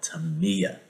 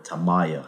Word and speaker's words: Tamiya: next on the list we are going to be talking about tamiya or tamayo however people want to pronounce it i pronounce it to me there's a lot of people that pronounce it tamaya i believe to me it's the right way to say it but anyway let's move on